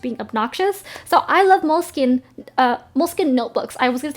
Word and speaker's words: Moleskine: Next is a Moleschina. That's how you say it in Italian because it's an Italian Italian brand and I'm just being obnoxious. So I love Moleskine notebooks.